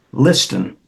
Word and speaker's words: Liston: My name is Liston. It's spelled Listen. Looks like listen, pronounced Liston.